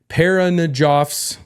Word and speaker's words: Parajanov: Okay, so tonight we are covering Sergei Parajanov's. How's that? Parajanov. That's right.